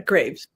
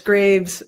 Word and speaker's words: Graves: Well, for your French audience, it comes from the word Greaves, which is the shin plate of armor.